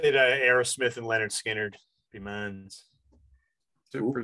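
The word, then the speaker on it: Lynyrd Skynyrd: Leonard Skinner, pronounced Leonard Skinner, Allman Brothers Band, Brothers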